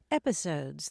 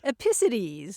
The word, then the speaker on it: episodes: Yeah, I finally figured out that she was mispronouncing episodes as epicides. Epicides, there we go. Putting the emphasis on the wrong syllable.